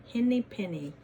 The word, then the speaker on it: Henny Penny: Kind of rhymes with Benny, doesn't it? Henny Penny.